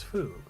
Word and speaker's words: Fu: e.t like alien named fu pronounces foo when he goes on